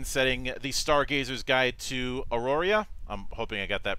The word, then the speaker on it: Aroria: the upcoming campaign setting the stargazers guide to auroria i'm hoping i got that pronounced right he will he will not teach